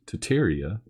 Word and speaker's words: Tartaria: the area did exist tartaria originally pronounced tataria is the name of